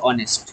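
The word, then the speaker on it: honest: First দেখো আছে হি ইজ not dash অনেস্ট। তাহলে এখানে দেখো কি আছে না, হি ইজ not dash অনেস্ট। তাহলে এখানে দেখো এইচ এর প্রোনাউন্স আমরা কেমন করছি না, অ এর মতো করছি।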